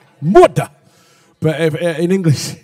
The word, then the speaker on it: Murdah: Which, if you're from Scotland, it's all right, it's Murdah. Murdah.